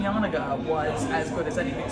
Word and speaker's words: Janega: I mean, I was until this week, the only YAN-uh-guh living in the United Kingdom, quite literally.